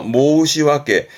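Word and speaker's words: 申し訳: 뒷글자가 역자인데 발음은 왁게 그래서 모시왁게.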